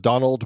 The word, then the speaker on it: Domhnall: I thought it was Donald, like Donald. I was told it was Donald without a D on the end. Oh Donald.